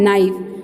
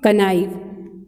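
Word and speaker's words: knife: ये नाइफ, नाइफ इसकी pronunciation क्या है, नाइफ, but what is written there, कनाइफ, बट के की प्रोनाउंस हम नहीं करेंगे, के साइलेंट लेटर है, ओके।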